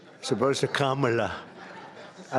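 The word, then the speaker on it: Kamla: It's Cam, right? Cam, as opposed to Com."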